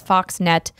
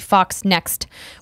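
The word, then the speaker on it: FoxNext: zero zero zero says I think you both refer to the publisher of the alien game is Fox net it's actually Fox next we actually talked about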